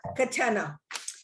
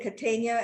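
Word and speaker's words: Catena: We are Katenna. Uh which people love to say Katania.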